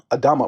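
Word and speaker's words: אדמה: Adam meaning how do you say it in the Hebrew? Adama, right? Adama, ground, meaning ground.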